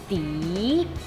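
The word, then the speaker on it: 籴: 的意思，发音是笛。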